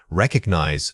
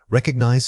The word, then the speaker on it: recognize: Wrong. Recognize stressing the first syllable. Right. Recognize stressing the second syllable. A frequent error is placing the beat too early. Try saying cognize. Feel how that rhythmic repositioning immediately makes the word sound correct and effortless.